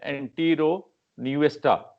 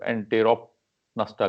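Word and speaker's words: Enteropneusta: अच्छा, अब जो पहली जो क्लास है इसमें एंटीरो न्यूएस्टा, ठीक है, पी यहाँ पे जो है ना साइलेंट प्रोनाउंस होता है, ठीक है। अमेरिकन जो है ना इसको साइलेंट प्रोनाउंस नहीं करते, वो एंटेरोप नस्टा कहते हैं, ठीक है।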